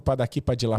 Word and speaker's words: Padaqui Padilá: Sigo no Padaqui Padilá Podcast, lá com o Marcelo Cleiton. O Padaqui é D-A-K-I Padilá, com D-I-L-A, mais como se fala do que como se escreveria, porque a gente fez nesse momento dessa forma.